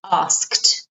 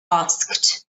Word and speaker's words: asked: And with ask, asked, ask, asked. So it's ask, ask, ask, ask, asked, asked. Okay, remember that ED is pronounced with a T sound.